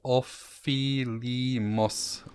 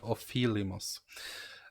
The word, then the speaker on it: Ofelimos: i pronounced it correctly i asked tim harrison he was kind enough to school me uh so offi lee moss of filimos um is the pronunciation of this uh this